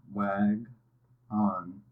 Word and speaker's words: wagon: And so when you're hearing a different vowel sound than what's expected, it's because that syllable is quieter.